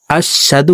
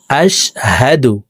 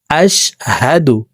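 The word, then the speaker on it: أشهد: আমরা অনেকে এখানে কমন একটি ভুল করে থাকি আশশাদু পড়ে থাকি এখানে দেখুন আশহাদু হবে না এখানে হা উচ্চারণকে সিন পড়ে থাকি হা জবর হালকের শুরু থেকে হাফকে উচ্চারণ করব আশহাদু আশহাদু আল্লা ইলাহা আশহাদু আল্লা ইলাহা ইল্লাল্লাহু ইল্লাল্লাহু ওয়া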